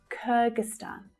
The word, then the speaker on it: Kyrgyzstan: Kyrgyzstan. Kyrgyzstan. So you'll see that the third syllable is the stressed syllable, but the first syllable is also quite strong. It's a secondary stress. Kyrgyzstan.